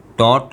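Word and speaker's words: taught: इसमें जी एच की साउंड नहीं निकल रही है, टॉट और ब्रॉट।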